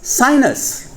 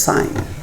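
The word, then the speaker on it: sine: And we did not want to pronounce it as sin. So we decided to call it as sign.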